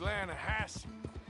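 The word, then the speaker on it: Lannahechee: no no the the lah hatche it runs right near here yeah but it's pronounced lass why is everything in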